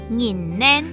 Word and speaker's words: 母奶: 拧奶。